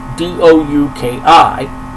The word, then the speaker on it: Douki: He's also beat Suzuki Gun's new associate member, Douki, D-O-U-K-I, all capital letters. I pronounce it Douki, because I believe that's how the Japanese pronounce it.